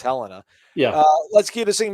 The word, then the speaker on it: Helena: helena attaboy attaboy helena i thought it was helena when i first moved there but it is helena yeah let's keep this